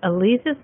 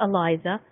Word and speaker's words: Aliza: All right, Aliza's name is spelled A-L-I-Z-A. It's pronounced Aliza, not Eliza.